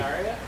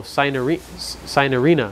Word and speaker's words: Cynarina: I'm trying to say the Cynaria? No, Cynarina. I've been saying it wrong the whole time. Cynarina. Yeah, I'm saying it right. Cynarina. That's how you say it.